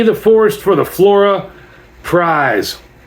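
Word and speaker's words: Prys: It's spelled P R Y S, but pronounced like Prize.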